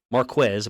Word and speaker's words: Marquez: If this is Marquez Marquez, apparently is how you pronounce it, Valdes-Scantling against Mike Hilton.